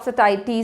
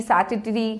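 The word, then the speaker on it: satiety: ऑफ सटाइटी, ठीक है, जिसके प्रोनाउंसिएशन को आप सटाइटी, सैटिटी कुछ भी कह सकते हो।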